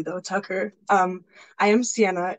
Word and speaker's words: Ceyenna: Tucker um I am Sienna it's pronounced just like the minivan so I hope the